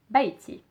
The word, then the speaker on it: بيتي: So you would just add the sound pronunciation E at the end to make it my house. So again, my house is بيتي.